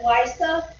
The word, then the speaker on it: LEISA: Because basically I almost said ELISA, which is a completely different space mission, but LISA, which is spelled LEISA because the Ralph camera